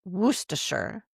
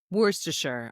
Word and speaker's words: Worcestershire: Worcestershire. Okay, that makes sense Worcestershire. now. That sounds Yeah, right. yeah. Worcestershire. But if you look at that word, that looks like there's a lot more syllables than that.